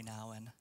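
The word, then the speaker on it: Nouwen: one of my favorite authors Henry Nan appropriately pronounced I love to say it this way hry hry Nan says this community is a fellowship of people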